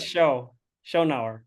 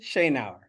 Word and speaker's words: Schoennauer: I need to know how do we say your last name Shane our shaneauer say an hour okay it's an hour so I I said it wrong I said show show now close enough I'm fine